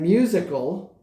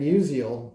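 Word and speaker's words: Musial: The reason why I chose him, quite frankly, is because my two knucklehead sons pronounced it Stan musical instead of Stan Musiel um on the video.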